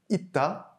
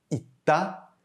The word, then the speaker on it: 있다: On note de nouveau que notre consonne finale, le 쌍시옷, ne se prononce pas à l'infinitif, 있다, mais il se prononce bien sous sa forme conjuguée parce qu'il est suivi d'un son de voyelle.